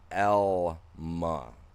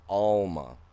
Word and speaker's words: Alma: It's Alma, but it's pronounced Elma, not Alma. You get the all from having two L's. If you have one L, it's an L sound.